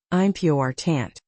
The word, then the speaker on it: important: For instance, in the word important, the stress falls on the second syllable. I'm P tant.